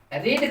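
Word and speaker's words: read: ठीक है, देखो रीड का जो है सो प्रोनाउंसिएशन सिर्फ बदलता है, स्पेलिंग सेम रहता है, रीड रेड रेड।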